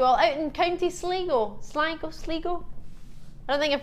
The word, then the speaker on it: Sligo: I have family from there, so that's how you pronounce it. All right, to County Sligo. As in it's quite sly over there. Yeah, so. Sligo.